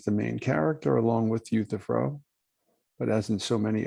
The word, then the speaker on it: Euthyphro: plato called the euthyphro e-u-t-h-y p-h-r-o euthyphro youth if fro euthyphro sometimes people have a